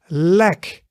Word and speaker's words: leg: So as in set, but shorter. So we have in English the word set, and now make it shorter.